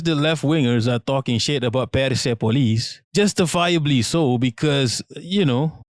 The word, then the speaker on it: Persepolis: Persepolis. That's how you pronounce it.